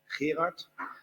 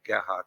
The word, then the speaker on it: Gerard: My name is, as you can see on the Dutch one, is Gerard. That's for usually everyone a very difficult name to pronounce with a hard G, but it's also Gerard or Gerhard or whatever.